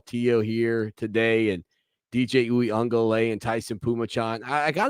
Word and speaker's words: Uiagalelei: And the first newsletter I did was, this is how you pronounce DJ Uiagalelei. This is how you say DJ Uiagalelei.